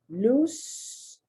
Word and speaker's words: loose: another problem another problem loose blues i would get the spelling all the time mixed up loose something loose means it's not tight and that's pronounced with an s and it's double o